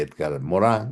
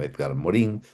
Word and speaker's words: Edgar Morin: Allá a la derecha está la misma foto que les mostré antes de Edgar Morin o Edgar Morin, si le pronuncian en castellano.